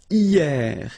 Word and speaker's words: hier: And then the first one is hier. Hier means yesterday, okay? Hier. So remember, this H here is not pronounced, okay?